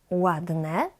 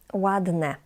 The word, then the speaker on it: ładne: Usually, it's quite challenging for English, Spanish speakers, and many other Polish learners to differentiate between the Y and E at the end. Ładny, ładne. I know this is challenging, but it comes with time, because your phonetic hearing needs to be trained.